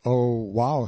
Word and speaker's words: Oahu: i named him after this island oahu pronounced oh wow he the first gate